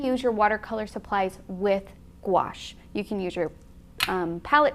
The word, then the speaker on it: gouache: It rhymes with wash. So Keenan, can you demonstrate? Gouache.